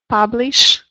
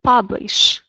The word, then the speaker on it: publish: Publish. Public. Public. Okay. Yes. So, try to make sh sound. Publish.